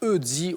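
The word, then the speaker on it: Ötzi: Donc ça s'écrit Otzi avec un O tréma, donc on prononce Eudzi, Audi, très très bien.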